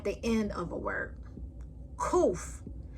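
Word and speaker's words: ק: Kuf makes the sound like the K in kangaroo.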